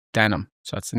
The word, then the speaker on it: Den Holm: Um but no came for came for the village and it's pronounced denim. We pronounce it denim and any anybody that comes into the village that's new to the village will call it den home and that's that